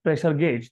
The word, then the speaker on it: pressure gauge: अभी कोई gauge भी रीड करते हैं, ठीक है, gauge, pressure gauge, okay, that is correct pronunciation is pressure gauge.